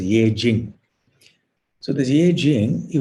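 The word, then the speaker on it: Yijing: I think they call it I-Sing, E-T-S-I-N-G, but I think it's pronounced as Ye Jing.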